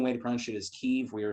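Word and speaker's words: Kyiv: the correct ukrainian way to punch it is keef we are saying heave that's fine it's good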